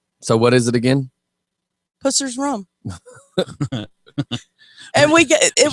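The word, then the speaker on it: Pusser's: British I got that the name of it spell it again p u SS e r apostrophe s rum now say the name Pussers rum I just want to make sure you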